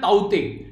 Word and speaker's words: Tauktae: वैसे इसको ताउते प्रोनाउंस करते हैं, वैसे यहां पर ताउते यानी कि टी जो है यहां पर वैसे ताउते बोलते हैं और वैसे ताउते। ठीक है, तो ये इसका जो प्रोनाउंसिएशन है वो TAUTE, तो ताउते इसको प्रोनाउंस आप लोग कीजिएगा।